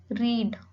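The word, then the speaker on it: read: रीड, रीड ये क्या है, ये लॉन्ग वॉवल है। जैसे आप ये वर्ड अगर प्रोनाउंस करते हैं रीड, तो जो ये वर्ड है रीड आप इसको थोड़ा सा खींच के बोल रहे हैं रीड, रीड।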